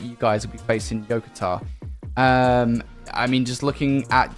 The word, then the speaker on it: Yokota: I think it's pronounced Yokota. I don't want to lead you the wrong way. Yokota?